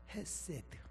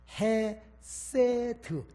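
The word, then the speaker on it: חסד: 참 좋아하는 히브리어가 있지요 헤세드 해세드 또는 핵 시옷받침 세드 또는 헤세드 러분 발음 따라서 좀 틀립니다 상 내용은 똑같습니다이 말은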